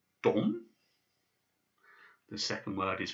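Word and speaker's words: дом: The first word is pronounced dom. The second word is pronounced stol. And the third word, which might be new to you, is pronounced zavod. So we have dom, stol, zavod.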